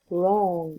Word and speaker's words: wrong: wrong الW ما تلفظ.